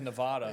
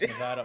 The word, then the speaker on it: Nevada: which everybody says Nevada, but it's Nevada. I have family out in Nevada, so I've learned to say it correctly.